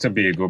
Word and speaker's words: Tobago: And pronounced Tobago by the Tobagonians, yeah.